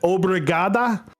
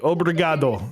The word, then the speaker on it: obrigado: Is it obrigada? Is that how you say it? For what? That's Portuguese. Obrigado. That's Portuguese for thank you. Damn. Almost. I'm trying. I've never. Obrigado. Is that how you say it? Obrigado. And I think you roll the R.